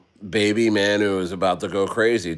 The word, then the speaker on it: Manyu: It's baby manu. Manu. Manu. Yeah. Manu. Manu. Like Man United.